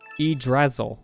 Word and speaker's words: Yggdrasil: Oh, it's pronounced Yggdrasil.